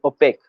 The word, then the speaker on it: OPEC: a body that is called opaque which is spelled as opec so right now you